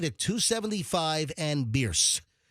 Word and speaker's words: Bierce: It's Genesis of Tampa, which is right at 275 and Bierce, or Bears. Most people say Bears, but it's actually pronounced Bierce, according to the actual Bierce family, who the road is named after.